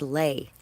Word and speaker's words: Leia: have told me that your name is pronounced lay but you know what I'm probably going to continue calling you Leia anything specific they're not